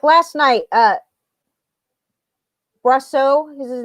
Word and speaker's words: Brosseau: That's how you say it, Brosseau. I've been listening to the announcers and the guys on MLB radio, so it doesn't look like it would be pronounced that, but anyway.